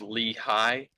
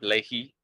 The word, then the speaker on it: Lehigh: because he's not here lehigh is pronounced lee hi instead of leahy apparently i don't know